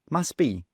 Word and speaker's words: must be: must be must be well we simply drop the T must be must be he must